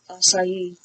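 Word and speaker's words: açaí: I like listening to people try and pronounce it. Acai? Acai? It's acai.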